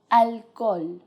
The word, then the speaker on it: alcohol: to the spanish pronunciation the only thing you have to do is ignore the age completely alcohol alcohol something without alcohol please